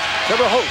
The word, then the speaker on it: Terre Haute: Terre Haute, that's how you say it, Terre Haute.